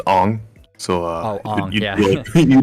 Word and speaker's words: Aang: Muffin, it's Ong.